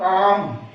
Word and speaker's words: calm: CALM काम। PSALM Shyam. इसमें P भी साइलेंट है और L भी साइलेंट, आगे पढ़ेंगे हम इसके बारे में भी।